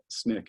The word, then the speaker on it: SNCC: In fact, and you see this in this one, Jim Lawson, who wrote the statement of purpose for SNCC, and SNCC is how you say it, the Student Nonviolent Coordinating Committee.